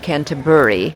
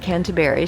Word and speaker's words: Canterbury: pronounce canterberry and she said basically she said cabur but when I pronounced it and said Canterbury she said yes that's how I pronounce it